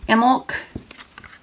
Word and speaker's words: Imbolc: So they are, I can't pronounce the runes, but it's Imbolc, is how you pronounce that, and Beltane.